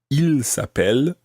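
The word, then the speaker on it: ils s'appellent: Well, it actually sounds exactly the same as he is called. Il s'appelle, he is called. Il s'appelle, they are called. But it's spelt differently, and it's got a silent part at the end of il s'appelle. It actually ends in ENT, and if you're using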